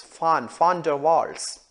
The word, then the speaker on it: van der Waals: physicist called johannes diedrich fan dervar you know the right way to say the one it's not one but it is fun founder waltz he got nobel prize for physics in 1910.